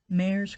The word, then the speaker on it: Mares: I would like to tag Terri Mare's Crochet, although when she says it, it sounds like a D, but it's written with a R.